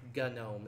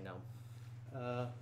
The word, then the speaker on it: GNOME: the gnome desktop environment or gun gnome is the more proper way of say it but it's spelled gnome it looks like knowing when you read it so I just say no this is it with